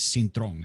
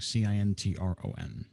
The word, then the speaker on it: Cintron: My last name is Cintron, Cintron. Yes, Brother Cintron. I'm so glad that you accepted my invitation for today. If you'd like to introduce yourself. So my name is Cintron.